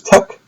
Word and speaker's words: TeX: So the original typesetting language was TEX, which was tech, and then they expanded it, so now it's LaTeX.